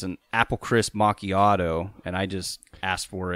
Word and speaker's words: macchiato: And it's an apple crisp macchiato, and I just asked for it blended.